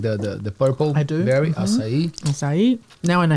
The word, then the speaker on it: açaí: like the purple berry, Açaí. Now I know how to say it too. Yes. Yeah. Cool. They like, I was in Australia, people were like, can I have an acai? Açaí. Sounds nicer.